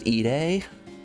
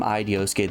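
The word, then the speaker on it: 井出: The man's name is not Ike. His name, his first name is pronounced eay. And I just I did not realize that. I've been calling him Idioske this whole time, but his name is actually pronounced, which I feel bad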